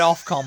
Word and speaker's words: Ofcom: I always just assumed it was OFF. Off, because you're pronouncing it like OfCom. Yeah, I mean, it technically should be. Yeah. But it's OFCOM.